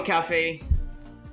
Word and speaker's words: Kafe: their success obviously bio you can call me cafe with a I or without one that's how you spell it k-a-f-e hype that's on a need to